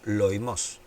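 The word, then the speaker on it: λοιμός: Bien, la palabra pestilencias o pestes en el griego es la palabra loimos o loimos, porque tiene el acento en lao, loimos, que literalmente la traducción sería enfermedad o plaga.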